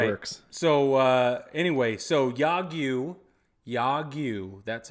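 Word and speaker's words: 야구: So anyway, Yagyu, that's how you pronounce the word for baseball in Korean, South Korean.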